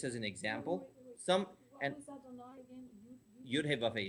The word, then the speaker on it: Adonai: We pronounce it as We don't Adonai. pronounce the Yeah.